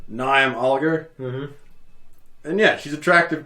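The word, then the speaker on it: Niamh: the mullet stage is it's spelled n-i-a-m-h liam yeah nyam oligar and yeah she's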